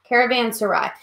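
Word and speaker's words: caravanserai: to remember the first one is Caravan Sarai caravans to ride that's how you say it and basically what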